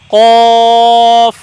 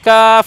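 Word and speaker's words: قاف: করে বলতে হবে দেখুন কফ আওয়াজটা একটু মোটা হবে কাফ না ক মোটা উচ্চারণ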